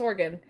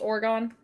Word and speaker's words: Oregon: And I read the name of it, and I pronounced it Oregon, and people were like, "No, that's Oregon." And I still feel like it should be pronounced Oregon.